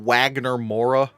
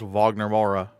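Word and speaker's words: Wagner Moura: was pre I was I was pretty sure it wasn't Wagner Mora. I was like it's probably not Wagner. So I was like so I looked up like how to pronounce the name. I was like okay. So it's Vagner Mora.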